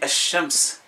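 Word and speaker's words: الشمس: soleil en arabe, Shams, quand il est défini, on dit Ash-Shams. Ash-Shams, la lettre, dans la prononciation, on ne l'entend pas.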